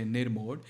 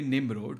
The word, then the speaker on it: Nimrod: I used to say Nirmod. It is actually Nimrod, so apologies for that.